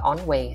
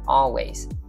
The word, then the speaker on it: always: Always, always, đừng có on way ha, always.